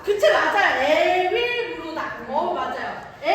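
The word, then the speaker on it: 에윌므로닥: 발음. 그치, 맞아요. 에윌무로다. 맞아요. 월 아니에요? 에윌무로다.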